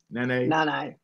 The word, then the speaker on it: Nanay: And we didn't talk about as much about Nanay, is how you say it? Nanay, yeah, who I just love.